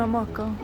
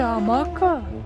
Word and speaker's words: hamaca: Y una haamaca. Se dice hamaca. Sí, yo pensé que es solo maca. Amaca con h.